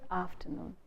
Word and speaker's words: afternoon: So in the word afternoon, we tend to stress the first syllable. We say good afternoon. Good afternoon. We tend to stress af.